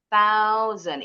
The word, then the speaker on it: thousand: S-nya bunyinya seperti Z. Thousand ingat th bunyi th ta sa ujung lidahnya